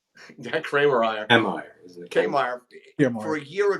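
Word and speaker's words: Kiermaier: Kramer-Ryer? Yeah, Kramer-Ryer.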